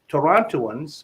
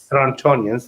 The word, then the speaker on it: Torontonians: Torontoans or Torontians, I'm not sure how do you say it. Torontonians, thank you for correcting me, are always buying properties, investment properties at a loss, in my opinion.